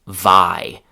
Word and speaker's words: vie: That synonym is vi. That's spelled v i e.